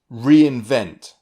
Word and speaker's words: reinvent: Look at this word, reinvent. It's 3 syllables, re-in-vent.